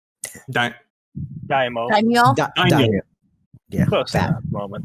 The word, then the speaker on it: daimyo: if I can pronounce the word correctly, Danyo. Daimo. Daimyo? Daimyo.